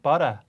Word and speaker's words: butter: 근데 호주 친구들은 butter 이렇게 발음합니다. T는 미국 사람들처럼 미국 사람들처럼 하고 R 사운드는 영국 사람들처럼 해서 butter, water 이렇게 발음해요.